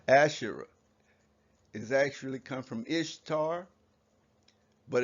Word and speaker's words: Ishtar: is actually come from ishtar but it's actually pronounced e star and esther in your